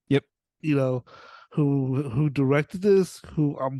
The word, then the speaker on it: Eno: Eno, who directed this?